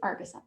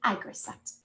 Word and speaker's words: Agricept: I always pronounce that wrong. I say Argisept. It's Agricept.